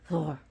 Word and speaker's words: Thor: titles of Thor Thor and that's how you actually pronounce it Thor one of his haes